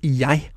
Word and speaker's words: jeg: However, it's worth knowing that sometimes it's pronounced just like the Danish J. The most common example is jeg, which means I.